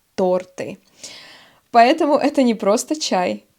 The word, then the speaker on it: торты: Вкусняшки — это что-то очень вкусное, например, конфеты, печенье, торты. Да, будьте внимательны: ударение — торты. Торт, торты.